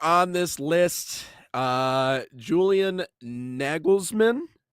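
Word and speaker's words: Nagelsmann: Uh Julian Naglesman, I believe is uh Nagglesman is how you pronounce that.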